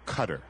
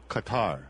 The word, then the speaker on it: Qatar: north america right now whether or not the pronunciation of your wonderful country is qatar or cutter how would you propose qatar yes qatar yeah so not quarter not qatar it's kind of a combination of both is what you're saying yes